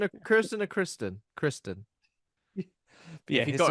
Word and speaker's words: Kristen: Kirsten or Kristen? Kristen. But yeah, if you got her name wrong, that'd be worse.